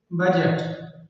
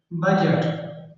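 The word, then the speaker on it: budget: जैसे बजट बजट अब यहां पर जी है जी से पहले डी आई हुई है तो ये जी खामोश है इसको नहीं पढ़ेंगे बजट है ये और ये है ब्रिज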